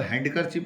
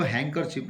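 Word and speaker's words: handkerchief: का जो हैंकरशिप है, हैंकरशिप का मतलब हैंडकरशिप नहीं पढ़ते हैं इसको, हैंकरशिप, ड जो है साइलेंट, डी का जो साउंड है ड वो साइलेंट रहेगा यहाँ, ऑन हिज फेस, हिज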